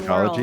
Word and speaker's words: psychology: should look up words that have a silent P in front because I feel like that'll open up a Ah, whole new world. psychology.